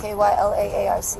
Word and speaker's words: Kyla Arce: Spell it. K-Y-L-A-A-R-C-E.